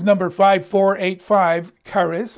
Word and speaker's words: charis: five four eight five charis or harris uh it's spelled like cherish c-h-a-r-i-s in the greek the favor that causes